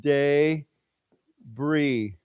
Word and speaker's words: debris: We call that debris. Okay, now it's pronounced when you say the word debris, it looks like there's an S, but it's actually pronounced day bree.